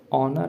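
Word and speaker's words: honour: ऑनर आ रहा है। ऑनर में प्रोनाउंस करेंगे तो आप देखिए क्या आता है। ठीक? अ आएगा।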